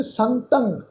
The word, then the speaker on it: संतं: सहनशीलता ये उही शब्द आ जी, सहनशील, सहनशील संतं, सस्से उपर टिप्पी की मात्रा, तत्ते उपर टिप्पी की मात्रा का नासिक उच्चारण होएगा संतं।